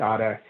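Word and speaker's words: Ara: We pronounce it Ada.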